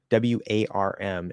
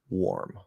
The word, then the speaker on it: warm: have the merger okay warm w-a-r-m is actually pronounced with an R colored o probably because in the unmerge version It's or so we change that into or warm warm okay now the second